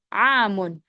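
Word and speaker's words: عام: Bacanya pendek, am. Kalau amun itu tahun. Kalau ainnya panjang artinya tahun, amun. Tapi kalau pendek artinya bibi paman ya, beda ya.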